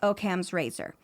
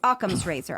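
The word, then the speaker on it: Occam's razor: all explanations which is oam's Razor sorry thank you aams Razer I knew I said it wrong as soon as it came out I was like that's not right aams Razer if the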